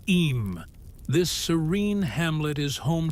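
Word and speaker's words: Eyam: Pronounced simply as Em, this serene hamlet is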